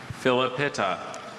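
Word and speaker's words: Philepitta: Philippita.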